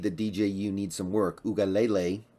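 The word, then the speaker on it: Uiagalelei: dju needs some work UGA Lele is actually how you pronounce it I guess while I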